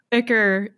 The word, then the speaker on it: ichor: thinking Ichor or Ichor, depending on how you pronounce it. Which it's is Ichor. It's 100% Ichor.